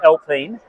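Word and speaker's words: Alpine: this is a hi folks this is an elpine A110 and um they're made by uh Reno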